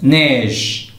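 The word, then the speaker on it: neige: غادي نشير لواحد الحاجه او الا كانت في الاخر ديال الكلمه يعني هي اخر حرف في الكلمه ما كتنطقش. لاحظوا معايا نيج ديك الكلمه الوسط نيج ج وقفت بحال السكون واضح.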